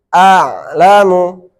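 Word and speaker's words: أَعْلَمُ: Dan yang mati ini a'lamu. A'lamu. Nah, awalnya a di sini hamzah, ainnya matinya di tengah.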